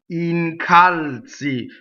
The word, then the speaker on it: incalzi: And incalzi. And for God's sake, take the time to pronounce this word correctly. It always sounds like somebody saying che incalzi il vento, which is not a very nice thing to say.